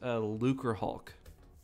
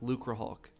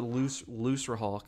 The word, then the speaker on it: Lucrehulk: It's pronounced Lucrehulk, like Lucrehulk, like lucrative. I used to pronounce it Looserhulk, but it's supposed to be like lucrative, and then Hulk, like hulking, because it's a big ship.